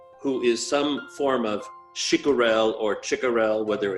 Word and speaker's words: Chicurel: Chicurel is how you pronounce it, Stein.